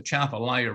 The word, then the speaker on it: Atchafalaya: down the I've learned I've mispronounced that word it's really pronounced the chapelia river if we pump 50